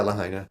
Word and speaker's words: Lahaina: I've always pronounced it Lahaina, right? Yeah, Lahaina.